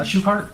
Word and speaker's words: Shukart: Um and prior to you uh and investigator Shuart, uh am I pronouncing his name correctly? Shukart. Shukart. Yeah. Prior to you and investigator shoe cart uh receiving um the deedent